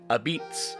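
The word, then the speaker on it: apizza: his version of pizza or as he pronounced it abeetz he would sell his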